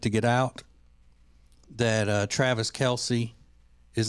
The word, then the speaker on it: Kelce: So anyway, Travis Kelce is not really Travis Kelce because his name is supposed to be pronounced Travis Kelce. There's no E sound on the end of it. Really? It's Travis Kelce.